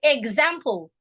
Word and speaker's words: example: different types of pronunciations if there is a vowel sound before after the E ex spelling it will sound eggs for example example EG EG example the reason is because